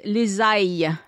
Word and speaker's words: ails: But when you're talking about the plant, then it's les ails with an S, which you don't pronounce.